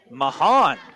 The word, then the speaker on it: Mahan: It's Mahan. I've been pronouncing it wrong all night.